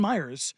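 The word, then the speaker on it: Miyares: Jason Myers, but it's spelled very differently, sent a demand letter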